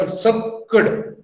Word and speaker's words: sakkud: I insisted, I impressed upon this word sakkud. I purposely pronounced it that way so that you pick it up.